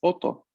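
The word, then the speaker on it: 音: Mientras que la palabra sonido es oto. Oto. Otto. Otto. Ujú. Oto.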